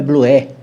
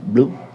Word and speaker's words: blue: e falou assim, Galinha, a professora falou que inglês é blué. Eu falei, não, minha filha, vem cá, eu vou escrever para você não vai esquecer nunca. A pronúncia é blue, escreve blue, mas você blue. Repete comigo, blue.